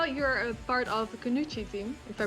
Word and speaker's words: Kunoichi: times i saw you're a part of the kunuchi team if i pronounce it right kunuchi yeah okay can you explain what you stand